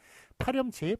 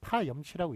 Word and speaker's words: 파렴치: 파렴치, 파 플러스 염치인데 이것도 파렴치라고 읽으니까 파렴치라고 씁니다. 몰염치는 몰 플러스 염치, 몰염치라고 그렇게 사람들이 읽습니다만 파렴치 같은 경우는 파염치라고 읽지 않고 파렴치라고 그렇게 저 앞에 있는 것을